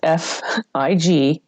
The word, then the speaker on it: Figueroa: my last name's Figueroa. It's really hard to pronounce. It took me a while too after I got married. So it's Figueroa.